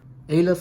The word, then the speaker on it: Aleph: Aleph or Aleph depending on how you want to pronounce, but it's basically a deck profile for the Embodiment of Victory.